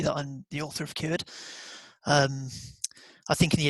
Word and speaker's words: Kured: the first ever QD we're pronouncing this correctly uh yeah that'll be cured QD perfect developed a meeting welcome